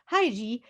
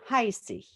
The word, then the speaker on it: Heissig: Heissig is the Japanese pronunciation of my last name, Heissig. Heissig is Heidi, the girl of the Alps, of the Swiss Alps.